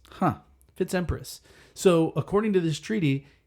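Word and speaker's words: FitzEmpress: Like think of Fitzpatrick. Fi TZ and then you start with a new uppercase letter Patrick. It's that but it's Fitz and then Empress spelled like Empress. Huh? Fitz Empress.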